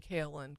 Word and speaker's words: kaolin: group, y I said, I think I'm pronouncing Kalin correctly. And this one woman up in front, so sweet, she's she's shaking her head emphatically. Yes. Yes, you are.